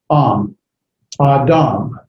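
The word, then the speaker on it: אדם: Aleph has no sound. So you just have the comates, ah, and then you have the da, adam.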